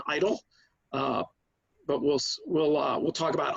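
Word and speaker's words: EIDL: injury disaster loan program also known as EE IDL or the somewhat unfortunate pronunciation idle but we'll we'll talk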